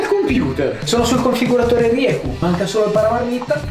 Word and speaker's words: Rieju: Allora, Rieku si pronuncia così come l'ho detto io, Rieku. È una casa spagnola, quindi la pronuncia effettivamente non è delle più semplici.